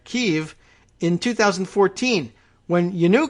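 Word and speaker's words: Kyiv: it's a picture from keeve remember that's how we now pronounce Kiev right Kiev in 2014 when you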